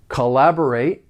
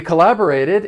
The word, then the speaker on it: collaborate: For pronunciation, the verb has four syllables and the stress is on that second syllable. The first and third syllable have that unstressed schwa sound, that uh sound.